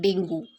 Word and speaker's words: dengue: Dengue is pronounced with U as silent. It's not dengue. Dengue is in Marathi, but when we speak in English, it's dengue.